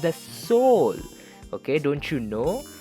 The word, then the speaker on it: Seoul: says come on bro it's not pronounced as ceo it's pronounced the soul okay don't you know it's the capital of